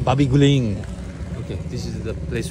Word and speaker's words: Babi guling: How you pronounce the name? Babi guling. Babi guling.